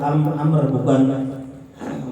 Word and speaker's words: Amr: Ini hadis dari Abu Amr bukan Umar, ini Amr.